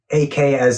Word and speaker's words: AKA: Is it Aka Cosmetics, if I'm pronouncing it correctly? It's AKA. I was thinking it AKA Cosmetics, right? Yeah, it stands for Ashley Kirk Ageless.